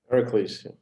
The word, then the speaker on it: Pericles: How do you say Pericles? Pericles. Pericles from his country place,